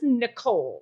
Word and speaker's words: Nichole: It's just Nichole, right? Yeah. Okay, fantastic. Because the way you spell it is unique and enjoyable.